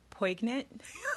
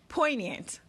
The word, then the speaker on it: poignant: look up the pronunciation poignant poignant that g in the spelling was tripping me up poignant it was so